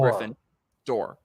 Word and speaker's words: Gryffindor: Griffin Gryffindor Griffin doll Griffin door like a door okay Griffin door it's